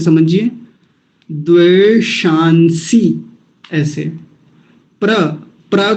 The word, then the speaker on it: द्वेषांसि: बहुत बार आया विश्वा द्वे शांसी द्वे शांसी एक और कमाल की चीज है इसमें एक मूर्धन्य सकार आया और एक दंती सकार आया द शांसी तो बड़ा